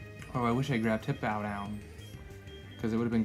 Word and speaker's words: Hippowdon: It's Hip-Ow, like O-W, Dawn, right? Hippowdon?